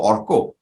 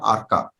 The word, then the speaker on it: Arka: example, a little later when a lot of Bengali people would ask me my name, I would say my name is Arka. Oh, Orko. I would say na, Amar naam Arka, because I am born and brought up in Bombay. I answer to Arka.